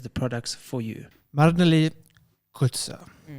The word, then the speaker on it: Coertze: Marneli Coertze. Coertze, because there's an R there. Coertze, yes.